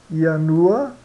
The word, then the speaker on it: ianua: mas a gente pronuncia ianua ianua aqui ianua ã iecur iecur e iustus yustos tá então sempre quando tiver um J é i tá então ianua iecur